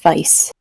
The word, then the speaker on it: Weiss: gonna clarify early on it's pronounced vice vice i apologize i should